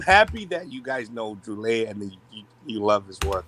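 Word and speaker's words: Druillet: It's Philippe Droulet, not Droulet.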